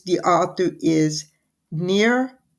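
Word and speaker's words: Nir: simply called hooked and it's the author is near EOL very H odd name but that is supposedly the pronunciation it's n i pronounced near and last name is e y a l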